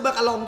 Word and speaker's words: มาการง: เหมือน กัน นะ ผม อัน นี้ อ่าน ว่า มากอง รึ เปล่า อ่ะ หรือ อ่าน ว่า อะไร ทำไม มัน เขียน มากง รอง มัน ไม่ ใช่ รอง หรอ มัน ไม่ ได้ อา มาลง มัน คือ มากาลอง ใช่ มั้ย มัน คือ ไอ้